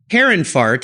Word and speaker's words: Herrenfahrt: more about your car care line again it's Harun fart and I want to spell that for the listeners h e RR en